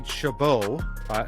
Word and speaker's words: Chabot: how it goes uh Nancy Chabot or I think that's how she pronounces her last name c-h-a-b-o-t the dark coordination lead